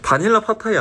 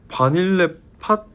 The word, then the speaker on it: Vanille Fatale: It's not "Vanilla Patay," haha. It's "Vanille Fatale."